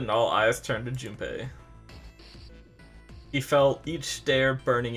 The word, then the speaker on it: Junpei: His name is Junpei.